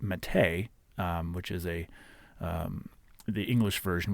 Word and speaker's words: Matej: He writes, "His name is pronounced as Matej, meaning Matthew."